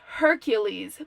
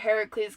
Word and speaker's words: Heracles: might know it as Hercules but because this is Greek I'm gonna pronounce it Heracles because that's actually the